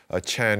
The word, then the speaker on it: Chan: Chan is the Chinese pronunciation of sun. Chan, sun, and Zen are basically the same word.